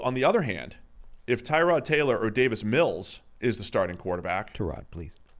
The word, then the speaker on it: Tyrod: He wasn't trolling people or like pranking them saying that actually my name's pronounced His name's Tyrod. Tyrod.